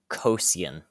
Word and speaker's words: Cosian: jedi lord wait what what was the species cosian cosian like i can i can spell it out c-o-s-i-a-n uh yes that was very